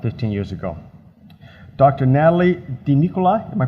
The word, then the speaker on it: DiNicola: Natalie DiNicola, am I pronouncing that correctly? Sitting across? DiNicola, okay.